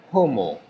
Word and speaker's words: Homo: La H è aspirata, non si dovrebbe sentire, ma io la pronuncio per farvi capire che davanti c'è la H. Homo sine pecunia.